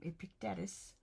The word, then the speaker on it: Epictetus: Epictetus.